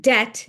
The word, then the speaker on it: debt: And so they retconed the English spelling and there the unnecessary B has remained all these millennia later to trip up anyone learning the language for the first time.